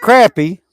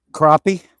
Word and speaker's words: crappie: what fish crappy well it's not crappy what is it okay that's tght y'all not yeah I am how do you pronounce it crappie okay Ronnie said you